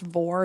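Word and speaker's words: vore: So the number one on this list, I think it's pronounced vor, V-O-R-E, and I'll read you the definition.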